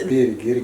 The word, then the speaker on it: Birger: Birger Christensen. So that's how you pronounce it, guys.